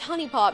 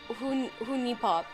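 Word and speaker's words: HuniePop: intel programmer simulator oh it's pronounced honey pop not who knee pop honey pop uh will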